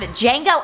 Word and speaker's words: Django: First we have Django Unchained, the D is silent, directed by the one, the only, Mr.